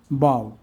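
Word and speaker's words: bough: English ওয়ার্ডে আয়ের পর জিএইচের উচ্চারণ হয় না, যেমন হাই, থাই, সাই, দো, প্লাউ, নে, বাউ।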